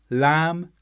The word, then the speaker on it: lamb: Thumb, climb, lamb, tombstone, where the B comes after M, and then doubtful and debt, where the B comes before the T. In all of these words, the B is not pronounced.